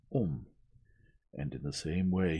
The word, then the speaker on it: homme: bark, he learned from D'Arnot that it was pronounced homme, and in the same way he was taught to pronounce ape, thing, and tree, arbre.